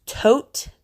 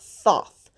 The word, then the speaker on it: Thoth: It's actually the Greek spelling, and it's pronounced Tote, not Thoth. Thoth is the American way we pronunciate his name.